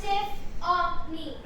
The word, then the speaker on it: Tiffany: I now use the name Tiffany, pronounced Tiff-o-me. That's with 2 eyes.